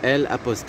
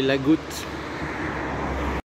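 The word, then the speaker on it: Agout: En fait, c'est L'-A-G-O-U-T. Et dans le sud de la France, vous prononcez toutes les lettres. Donc, c'est pas Lagou, mais la Goutte.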